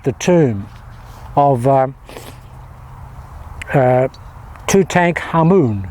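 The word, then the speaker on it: Tutankhamun: tomb of um uh two tank Hammoon, which is the real pronunciation in Cairo.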